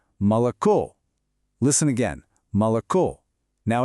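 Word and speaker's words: молоко: The stress is on the last O. That means the first two O's are unstressed. So we don't say moloco. No way. We say mal.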